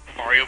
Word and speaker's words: Mario: You know, apparently I've been saying Mario wrong. Apparently it's like Mario. Well, if you're Brooklyn, I guess you can say it like that, but I think the technical Italian term is Ma-rio.